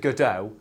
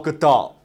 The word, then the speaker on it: Gadot: that's apparently how you pronounce that everyone always pronounce it godot and then gal good. no it's good dot oh okay so it's gal gadot which sounds really stupid um i mean it